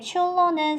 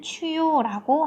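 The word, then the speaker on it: chullo: 자, 이게 원래는 페루에서는 스페인어를 쓰기 때문에 추로는 스페인 발음으로는 추요라고 한다고 했습니다. 자, 추요라고 스페인 발음으로 하게 되고요. 그 다음에 우리 친구들 영어로 읽을 때는 추로라고 한다고 했었습니다.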